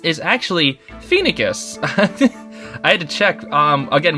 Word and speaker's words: Phoenicis: Apparently, what I was pronouncing as, like, Phoenicis is actually Phoenicus. I had to check, again, with freaking Heroes. I have Tabarn Heroes, and he said he's like the king of Phoenicus, and I was like, oh, thank you, that's